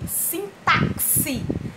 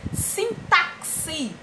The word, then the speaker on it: sintaxe: ou é sim táxi nesse caso o X tem som de s a Pixar para empatia